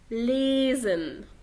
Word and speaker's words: lesen: فيبقى القاعدة بتقول لو حرف الاس جاء بعديه حرف متحرك في الحالة دي بننطقه زين، لكن غير كده بقرأه سين.